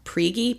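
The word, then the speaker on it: Prigge: had went to I I believe their last name is pronounced priy p r i g g e um they're going to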